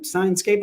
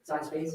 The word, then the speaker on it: Sinespace: Sinescape, I'm pronouncing that correctly? Sinespace. Sinespace. Sinespace.